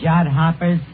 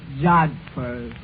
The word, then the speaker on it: jodhpurs: Absolutely beautiful, Eddie, in her riding pants and her jod hoppers. Yeah, it was love at first sight. That word is pronounced jodhpurs.